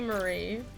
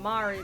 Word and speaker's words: Marie: It should be Marie. I don't know. Cause so there's like over here there's biscuits called, and we call them Mari biscuits, or at least,